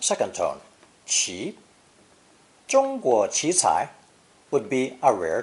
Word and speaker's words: 奇: A split sound character, usually pronounced second tone, 起, 起, but also pronounced first tone, 鸡, 鸡 in some expressions.